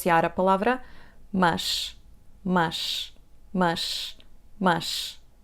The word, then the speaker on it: mas: Now, let's pronounce the word: /mɐʃ/, /mɐʃ/, /mɐʃ/, /mɐʃ/. So, the sound is not open, but it's not /ə/, it's not /məʃ/, OK?